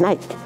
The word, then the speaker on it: Nike: ha tomado el nombre aunque se pronuncia a la inglesa bueno es nike y significa victoria entonces